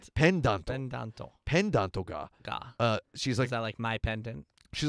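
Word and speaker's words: ペンダント: So if you were to try to say that in katakana, you'd go, where's my pendanto.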